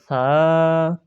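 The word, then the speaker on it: ث: তা, তা, সা, জিবের আগা দাঁতের আগা, সা, জিম, জিম, জিম, জিম,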